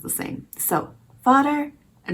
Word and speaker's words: vader: spelled like father in Dutch but it's not pronounced the thing so fodder and not Vader but that is a Dutch word for dad